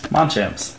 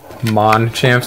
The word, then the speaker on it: Machamp: Machamps. The Machamp Tin Week. I know we always say it wrong. You say Machamps instead of Machamp, but, you know, we like it.